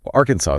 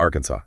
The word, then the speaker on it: Arkansas: jump out at you Arkansas is a great example Arkansas Arkansas arkans not Arkansas that's our sound can really throw people I thought I